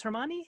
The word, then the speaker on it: Hermione: So Emma Watson, who is an actress, she played Hermione. I think it's Hermione.